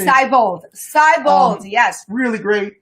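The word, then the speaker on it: Siebold: Seibold, yes.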